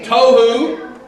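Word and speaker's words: תֹהוּ: Tohu, like tofu, but tohu vavohu.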